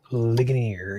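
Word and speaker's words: Ligonier: So, currently it's about 35 miles away from how do you pronounce it? Linganir. Linggonier.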